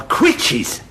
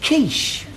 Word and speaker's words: quiche: My quitches. Quitches? No, Elmo, that's pronounced quiche. You sure? Yes, French.